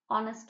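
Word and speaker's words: honest: তার আগে এন বসেছে অনেস্ট ম্যান এইচ অনুচ্চারিত তাহলে এইচ যদি অনুচ্চারিত থাকে মানে এইচ এর উচ্চারণ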